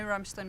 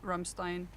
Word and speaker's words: Rammstein: And I went to my first concert, a Ram Ramstein. Uh I should say Ramstein because we're not doing the English pronunciation here.